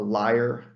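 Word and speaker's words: lyre: uh Greek instruments this is a alos flute that's spelled a-u-l-o-s and then there's a a liar l y r e which is a type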